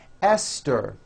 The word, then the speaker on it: Esther: Although these next words and names are spelled with a TH, they are pronounced as if they were spelled with a normal T, like that. And these words are Thomas, Thompson, Teresa, Thailand, Thames, like the river, Esther, and thyme, which is a spice.